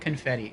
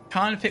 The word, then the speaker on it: confit: favorites oh confit not confetti okay conit where the te is silent pronounced coni oh I've